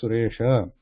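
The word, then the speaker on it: सुरेश: But in Sanskritam, we are writing at the end, not the Venjanam Suresh. So it should be pronounced like Suresha.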